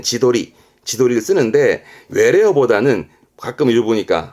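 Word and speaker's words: 自撮り: 철 찍는 거 사진을 찍을 땐 도르 그래서 발음은 지도리 지도리 그렇죠 이게 셀카입니다 자기 찍는 겁니다 셀카를 지도리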